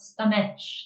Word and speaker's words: stomach: It's not stomach, it's stomach. Even Yeah. though you see that's confusing because this is CH, Yeah, but it's stomach, stomach. so Yeah. it's not pronounced.